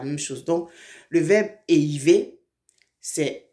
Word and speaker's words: éhiver: Donc, le verbe éiver, c'est E, H, I, V, E, R. Le verbe éiver. Vous voyez comment on prononce ça, non?